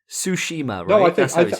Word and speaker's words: Tsushima: about it it's hilarious i'm probably murdering it tsushima ghost of tsushima i think you've got it